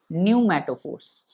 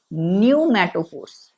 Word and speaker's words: pneumatophores: called respiratory roots or pneumatophores. P silent होगा, NEUMATOPHORES, pneumatophores, NEUMATOPHORES। यहाँ पे P जो है वो साइलेंट होगा। क्या बोला जाता है इसको बोला जाता है न्यूमैटोफोर्स।